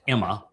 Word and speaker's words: amma: And the most common title is uh amma and amma is actually should be pronounced Emma.